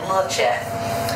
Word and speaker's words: La Chat: name with L A why is that cuz it's it's pronounced like lat well you know back